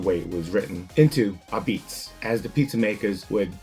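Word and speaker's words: apizza: a pizza it's pronounced a beats most likely because of the heavy Northern Italian Neapolitan accents transforming basically L Pizza which with have been the way it was written into Ab Beats as the pizza makers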